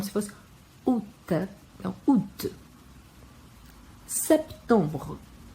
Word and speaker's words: septembre: Aqui temos o P, que ele é pronunciado e ele morre em seguida, o som. E tem o EM, que tem som de ON, e o E no final não é pronunciado.